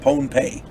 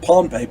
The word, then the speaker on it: Pohnpei: of the island of Pohnpei. I'm going to say it's pronounced Pohnpei because otherwise it sounds like Pompeii over there in Greece, and it's not.